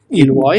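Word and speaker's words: Ilois: High Court uh finds the removal of the ilwa. How do I pronounce it? Ilwa. Pronouncing it per perfectly.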